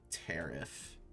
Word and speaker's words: Pteriph: yeah, it would be probably Tariff. Which I didn't even realize that would be the pronunciation for that until right this second.